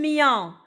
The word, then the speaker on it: mien: Le mien, c'est le son yan, I-E-N se prononce yan.